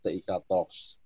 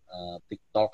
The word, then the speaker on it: Tiktox: salah seperti itu maka terciptalah nama brand ini tiktox tapi Nam mohon nanti Bacanya jangan tiktok sebenarnya jadi hantu 13